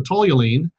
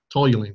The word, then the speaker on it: toluene: Then they flush that into a vat, and then they boil off the toluene, and the end product of that is C60 crystals, but they're about 0.5% toluene still.